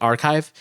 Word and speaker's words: arXiv: The technical paper published on, I never know how to pronounce that, Arxiv, A-R-X-I-V, Archive, provides several mitigation recommendations